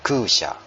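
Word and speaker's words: 空車: Itu bacanya kusha.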